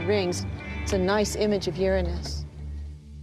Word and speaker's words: Uranus: pronounce the planets name Uranus which is very likely closer to the original pronunciation of the name of the God after who was named